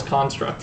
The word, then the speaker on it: construct: All I've done is construct things. I guess I should pronounce it construct. And use the verb instead.